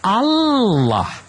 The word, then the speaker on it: Allah: Ada dua L-nya. Bagaimana coba ucapkan lagi. Allah. L-nya dua Bang. H. Tapi kalau L-nya satu kan Allah. Kalau dua Allah. Tidak salah pengucapan, Pak. Salahnya di mana? Itu kan Allah. Oh, kalau di alif alif alif lam lam ha Allah. Betul. Iya. Allah. Tapi dengan tapi dengan double L itu sudah mendekati Allah.